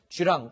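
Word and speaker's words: 巨浪: 그러니까 쥐 랑스 리즈 이 우리말로 읽으면 더 랑이 되서 큰 파도 거대한 물결 이렇게 해석을 할 수 있을 것 같은데 중국식으로 발음하면 주랑 일하고 있습니다 7 황원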